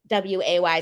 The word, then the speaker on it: segue: And by the way, segue, for anyone that doesn't know, is spelled Segue. Yeah. And Google isn't nice to people who try to look for the correct spelling with Seway.